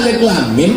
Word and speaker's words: alif lam mim: Alama. Padahal alif lam mim bacanya.